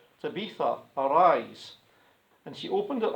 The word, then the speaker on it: Tabitha: Meanwhile, in this other town, this lady called Tabitha, now you'll notice how I pronounced that.